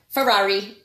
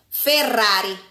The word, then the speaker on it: Ferrari: Ferrari. Ferrari. Ferrari. Right, Nicolette? This is how you Did pronounce you hear it. My tongue rolled?